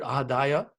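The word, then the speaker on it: ādāya: Udachyate, Purnasya Purnam Adhaya, the line over an A makes a long A sound. So instead of A, which is the third A in the word Adhaya, the first 2 A's are Adhaya.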